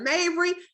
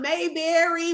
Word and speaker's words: Mavery: the correct way because people mess my name up all the time instead of mavery i'm mayberry marbury i don't know where they're getting these extra letters from but we thank